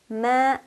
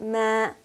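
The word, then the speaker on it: من: Holy Quran means what so man not ma or ma but man man can we have fairy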